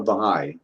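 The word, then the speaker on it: Baháʼí: and I think they mentioned that you were Baha'i. Is that how you say it? Yeah, I'm a Baha'i.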